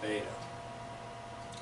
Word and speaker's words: beta: if you were that beta rhymes with Theta so when you're talking